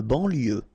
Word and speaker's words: banlieue: De banlieue. Okay, final E not pronounced. So I-E-U, I-E, L, lieu, banlieue.